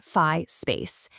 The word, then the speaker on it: Phi Space: It's called fi space. And that's pronounced fi space.